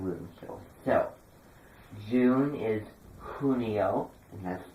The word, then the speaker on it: junio: It's pronounced Junio. Whenever there's a J in at the beginning of a word, it has an H sound, and whenever there's a